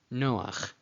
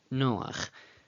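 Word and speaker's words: נֹחַ: Noach. Noach. Again, in English, I transliterate the chet as a ch. In Spanish, I would put a j.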